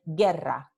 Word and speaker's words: guerra: Cuando GU viene seguido de E o de I, so when you have the sequence of letters GUE or GUI, okay, the GU represents just the sound G.